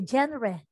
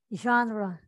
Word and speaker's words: genre: say genre genre yes other people would say especially kids they would say january or or gender but it's genre okay genre and let me